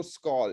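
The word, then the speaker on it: Skål: but for those of you who don't know skull it's the organization that promotes tourism on a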